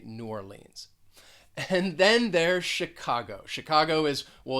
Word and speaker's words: Chicago: this city is that the ch you're going to pronounce it kind of like an sh it's not a ch sound it's a shh sound and the stress is on that second syllable chicago chicago let's move over to